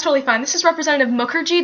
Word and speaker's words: Mukherjee: This is Representative Mukherjee. That's Muk like book, like her, and G like tea.